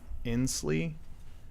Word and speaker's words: Inslee: it's not alright governor jay Inslee in in in Slee i NSL Inslee Inslee thank you I know how to pronounce names Washington governor he announces he's gonna